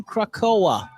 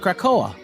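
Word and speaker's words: Krakoa: ever happened to captain krakow is out today x-men number six this pronounced krakow krakow that's what i said krakowa that's what i said also out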